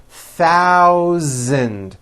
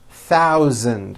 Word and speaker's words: thousand: Stars in this paragraph be aware of my pronunciation of numbers especially the th and the voiced z sound Z in the word thousand thousand okay here we go